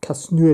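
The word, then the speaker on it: Casnewydd: real van taken Newport and South Wales or Casino if you want is that so it's pronounced in Welsh and that's the blue and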